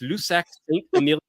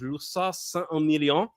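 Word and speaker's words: Lussac-Saint-Émilion: an English accent, just Lussac Saint-Emilion, Bordeaux wine. If you want to try a nice French pronunciation, is Lussac Saint-Emilion, and that is going to be hot.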